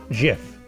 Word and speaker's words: GIF: It was based on the jar of peanut butter, so it needed a soft G, no matter what rolled off the tongue better and whether the word was graphics.